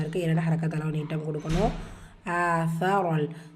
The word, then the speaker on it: آثر: ஆசரல் சா எப்படி ப்ரொனவுன்ஸ் பண்ணணும்? உங்களுடைய நுனினாக்கு மேல் பல்லுடைய கீழ் ஓரங்களில் உரசி சா உச்சரிக்கணும்.